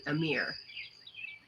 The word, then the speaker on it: Amir: Amir. So, am I saying it right? That's my question. Amir. Yes, that is my real name.